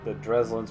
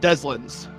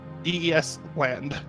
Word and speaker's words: Deslins: And remind me, the Dreslins were the mafia bosses, right? Deslins. Deslins, sorry. DES land.